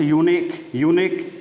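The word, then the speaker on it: eunuch: Epoch, इलोजी, अगली, uniform, honour, utensil, otter, Eris, air, utopia, you, excuse, यूलॉजिस्ट, यूनिक या जिसका कहते हैं बहुत अच्छा वर्ड है, इसकी स्पेलिंग देखें, UEUNCH, इसको यूनक पढ़ते हैं, इसके बाद हिजड़ा या नपुंसक होता है।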